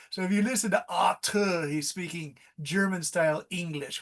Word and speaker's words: Artur: in a German accent because Arthur with a th is the English, but in German it's Artur because my friend lives in a German country.